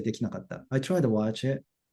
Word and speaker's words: できなかった: できなかった。できなかった。Everyone? できなかった。なかった。 Good. Stress is on the key, right?